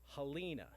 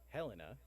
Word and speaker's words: Helena: John Somerville proposed helada which he pronounced Halina in oov in honor of Halina Township Scott County Minnesota this immediately caused an uproar from the former Confederates in the room who insisted that upon pronunciation helena after helen targets are a town of the mississippi river while the name helena won the pronunciation varied approximately 1882 when helena pronunciation become dominant later tales of the